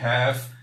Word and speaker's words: half: Lembrando que essa palavra aqui, half, embora tenha a letra L, não será pronunciado. Falaremos apenas o H, A e o F pronunciados half.